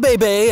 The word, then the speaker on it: bébé: For example, Catherine created Moira's iconic pronunciation of bébé. As she explained, "I said bébé as a joke or a mistake the first time. Once I hit on bébé and got a laugh from the crew, that was it."